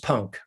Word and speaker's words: Punke: sorry no worries you wouldn't be the first to mispronounce it it's just punk pogba you know